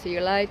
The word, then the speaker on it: zeolite: aoll before and it's uh the yite zolit zeolite how you say it z e o l